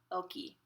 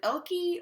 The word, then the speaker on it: Elke: You can pronounce it Elke or you can pronounce it Elke. Either or is fine with me. Just don't say Elk. I hate when people say Elk because there's an E at the end. So please pronounce the E.